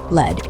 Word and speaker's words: lead: Lead is past tense how you were guided to your grave. Rhymes with dead.